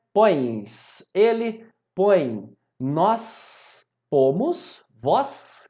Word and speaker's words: põe: Repara que aqui, ó, ele põe, eles põem, a pronúncia é a mesma, não é? Mas eu coloco um M aqui para diferenciar o singular do plural, tudo bem? Uma outra coisa é que eu coloco tio, se vocês perceberem, põe, a gente termina a pronúncia pelo nariz, não é? Esse ditongo aqui, ele é anasalado.